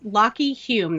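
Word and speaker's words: Lachy Hulme: super funny so yes lock Hulme that's how you pronounce it but it's spelled la CH y hu LM e mm-hmm and I didn't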